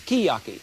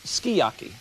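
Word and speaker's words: sukiyaki: They tell me it's skiyaki. S u k i. Y a ki is pronounced skiyaki.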